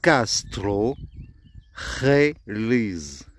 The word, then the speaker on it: Castrojeriz: La rota, c'est le J qui est là, qui se prononce toujours R. D'où le nom, la rota. Donc là, nous disons Castrojeriz.